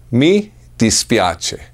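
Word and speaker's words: mi dispiace: sorry in Italian it's very simple I'm sorry me dispiace meet dispiace that's it i'm sorry in italian sounds like this me dispiace me dispiace audible com search fro pose for discounts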